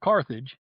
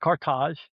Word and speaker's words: Carthage: Cartage, by the way, not Carthage as Westerners tend to say, it's pronounced Cartage.